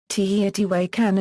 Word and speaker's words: Teotihuacan: The name is pronounced in Nahuatl, with the accent on the syllable wak. By normal Nahuatl orthographic conventions, a written accent would not appear in that position. Both this pronunciation and Spanish pronunciation, teotiwa'kan, are used, and both spellings appear in this article.